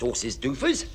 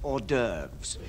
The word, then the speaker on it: hors d'oeuvres: for starters oh trust horses doofus actually chief that's pronounced hors d'oeuvres you will glance at